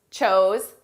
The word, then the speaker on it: chose: Choose, chose, chosen. Notice the pronunciation difference between our base verb, choose, and the past and the participle. Choose, chose. Oo, oh.